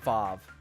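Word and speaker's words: Waw: One step up from that is a vav. Now I know that's spelled w aw but it is pronounced vav.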